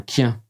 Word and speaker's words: kien: Par exemple, le son A se prononce O et ils diront « je sais pas » pour dire « je sais pas ». Pour dire un chien, ils disent un quien.